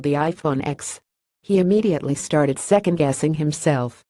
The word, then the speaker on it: iPhone X: phone was called the iPhone X he immediately started second-guessing himself but eventually settled on his original pronunciation the next shopper knew it was supposed to be pronounced as the number 10 but said using X